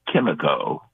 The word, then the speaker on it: Kimiko: She pronounces her name Kimiko.